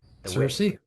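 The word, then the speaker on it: Circe: Why did he take you know let's pronounce it c I r give us a pronunciation cersei.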